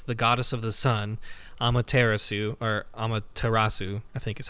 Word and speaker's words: Amaterasu: You play as a wolf, which you pointed out, a wolf goddess, the goddess of the sun, Amaterasu, I think is how you pronounce it.